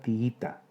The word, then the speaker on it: tiita: Y finalmente la palabra tiita, 3 sílabas. Hiato entre dos vocales iguales, la I. La sílaba tónica es la penúltima. Se trata de una palabra llana que termina en vocal, por eso no se tilda.